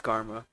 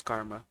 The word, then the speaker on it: Garma: into it garma's fate I was saying it wrong I haven't I it's it's karma not germa it's karma oh Ain't That A